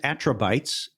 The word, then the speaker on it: Attribytes: What was and is Attribytes, which is spelled BYTES, like attributes with the fun word at the end here.